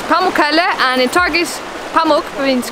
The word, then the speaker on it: Pamukkale: here to make sure that all areas of Pamukkale gets enough water, because if it gets too